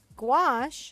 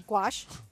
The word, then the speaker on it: gouache: Rondo would like to know what is gouache gouache is and how do you pronounce it a gouache is a water-based paint it's a similar product